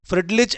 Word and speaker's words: Freundlich: इनमें से एक है जिसको हम कहते हैं फ्रिडलीच। ठीक है? फ्रेंडलीच कहते हैं एक को। इसकी स्पेलिंग देख लेना।